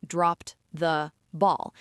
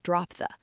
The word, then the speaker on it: dropped the ball: We don't clearly separate the words. We don't say dropped the ball. The ED sound at the end of dropped blends directly into the ST sound of the. It sounds more like drop the.